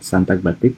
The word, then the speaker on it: sintagmatik: Sintagmatik dibacanya ya, sintagmatik, dan kemudian paradigmatik.